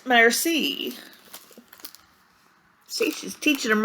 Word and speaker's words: merci: thank you in French it's a mercy you say it like this merci see she's teaching him